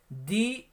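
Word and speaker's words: the: जैसे दी ईस्ट यानी पूरब, यानी यहाँ पर फर्स्ट लेटर ई है, इसलिए दी का उच्चारण किया जा रहा है द को, यानी दी ईस्ट यानी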